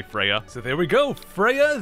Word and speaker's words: Freya: I'm gonna spell it like this, and I think technically it's pronounced Froya, but I'm just gonna say Freya.